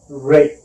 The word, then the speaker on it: Ray: Did you just say Ryan? Ray. Okay, Ryan. I'm still trying to pronounce the names right. So how do I pronounce your name? Just say Ray or Raymond.